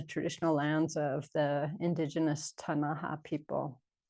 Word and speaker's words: Ktunaxa: And we're on the traditional lands of the indigenous Ktunaxa people.